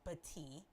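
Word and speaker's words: Battie: going on uh Albert tiger running back Brian bti it's spelled bad but it's actually pronounced bti and his brother Tommy were shot on Saturday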